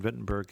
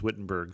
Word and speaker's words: Wittenberg: as a child as Wittenberg so I apologize for my inconsistency but in the German pronunciation that W is always a v sound it's verlet and viar